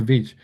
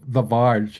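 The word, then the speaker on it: Viy: The Vij? The Vij. I was about to say the Vaj.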